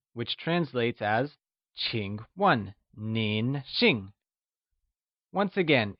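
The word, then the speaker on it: 请问: new words we learned Ching is pronounced with the falling rising tone and starts with a sound whereas 1 is pronounced in the falling tone let's hear you say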